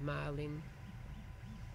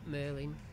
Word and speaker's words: Marlin: So the latest version of Marlin or Merlin, whichever you choose to pronounce it as.